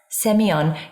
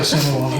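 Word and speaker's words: Sémillon: times as I have, saying it the other way is not very easy. So I say Semillon. Semillon, okay. Well, maybe I should say it like you. It sounds better. Semillon.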